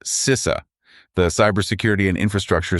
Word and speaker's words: CISA: That's pronounced CISA, the Cyber Security and Infrastructure Security Agency.